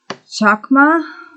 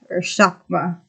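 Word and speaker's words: חכמה: The Hebrew word for wisdom is, I'm sorry if I butcher this, chakma, chakma. It's Chochmah, if anyone wants to look up how to pronounce it.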